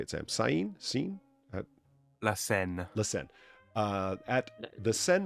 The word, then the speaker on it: Seine: La Seine.